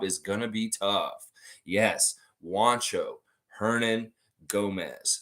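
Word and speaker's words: Juancho Hernangómez: Yes, Juancho, Hernan, Gomez. Say his name properly. You can say Bo Cruz. He doesn't mind that either. But Juancho Hernan Gomez is the man's name, and he is for real.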